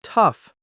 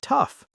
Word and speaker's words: tough: But listen to how they're pronounced: though, through, thought, and tough. 4 different sounds from the same group of letters.